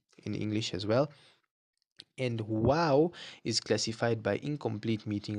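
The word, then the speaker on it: و: So when you say wow, your lips need to come rounded.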